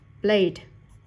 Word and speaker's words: played: Âm cuối cùng là âm i, không có trong hai quy tắc này nên đuôi ed đọc là d. Played.